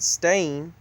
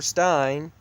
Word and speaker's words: Stein: But I remember seeing on the books in elementary school E-I-N, and even though they told us to pronounce it Stain, I remember Stein, but I remember calling